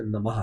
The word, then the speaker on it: नमः: देखो, शब्द नमो नहीं, शब्द नमः है।